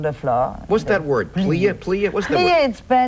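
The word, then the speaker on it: plié: I said, yeah, plie is a stretch.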